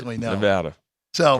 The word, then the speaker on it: Nevada: like sometimes you're ignorant on how things are pronounced. He was the first person, Professor Robert Smale, who was like, "Oh, it's Nevada."